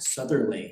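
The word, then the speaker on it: Southerleigh: Southerntherly. How do you spell that?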